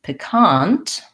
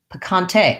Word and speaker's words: picante: rules are different in picant uh picante oh okay picante so this is like the spanish where the e has the a sound picante second syllable stress um great okay so